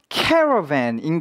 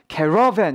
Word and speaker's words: caravan: caravan인 거예요. caravan 이런 거 아닙니다. 그렇죠? 강세 앞에 있어요.